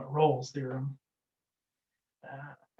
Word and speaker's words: Rolle: of them today but this one's called rolls theorem i've also heard it called raleigh's theorem and it probably goes by lots of different names or lots of different pronunciations i should say but i call it rolls theorem um i believe that this is named after a french mathematician so it's probably more like royale's theorem or something like that but uh